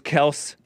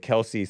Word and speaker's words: Kelce: Taylor Swift, Travis Kelce, yes, it is Kelce. The dad just got frustrated with everybody calling it Kelce, so he said, okay, fine, it's Kelce.